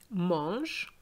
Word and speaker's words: mangent: What is in red is just telling you that you should not pronounce it. Les enfants mangent tous les gâteaux et boivent tout le jus.